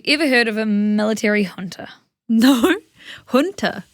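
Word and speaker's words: junta: And then we have, have you ever heard of a military hunter? No. Hunter. Hunter. It's pronounced, it's spelled J U N T A, but it's pronounced Hunter.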